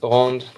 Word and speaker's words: rond: So they said no, vis rond, vis rond, vis normal. It's in French, so you don't pronounce the D. C'est rond, rond.